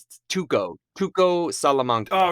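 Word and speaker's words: Tuco: right here uh it's tuko kuko Salamanca oh it's close I was close tuko tuko that's it not Tito that's it I knew it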